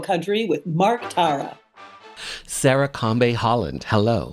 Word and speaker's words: Kambe: It's Combe. So, Sarah Combe Holland. There you go.